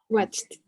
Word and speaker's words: watched: What is the correct pronunciation for the verb ending in CH? Watched.